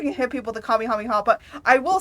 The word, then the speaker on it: Kamehameha: Okay, at least you can hit people with a Kamehameha. But I will say, do you want to know how people pronounce it?